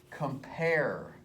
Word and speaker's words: compare: If I say compare, compare. Just listen to the sound of the word. It's an I am. It says compare. The accent is on the second syllable.